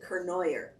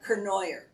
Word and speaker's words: Cournoyer: started the corn cornier they pronounce it kernoyer he started the kernoyer